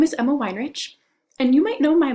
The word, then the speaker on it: Weinrich: Miss Emma or Miss Weinrich, whichever one you're more comfortable with. This is what I always tell my 8th grade students. It's pronounced wine like a whining baby and rich like money.